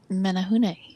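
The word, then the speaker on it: Menehune: And Steph, you're going to kill me because I'm going to pronounce this wrong. Just Menahune. Menahune.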